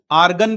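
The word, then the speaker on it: Argand: Represented on, इस plane का नाम आर्गन प्लेन है। भाई डी साइलेंट है, ध्यान रखना।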